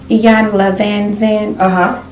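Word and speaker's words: Iyanla Vanzant: Iyanla Van Zandt.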